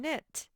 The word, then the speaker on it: knit: beginning or ending sound knife and knit they both begin with an m sound and then sound is spelled with k n all right so on